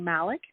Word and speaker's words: Malek: I'll jump in, and I'm Malek, and you did pronounce it perfectly well, and it's so polite of you and so nice of you to check, because you never know.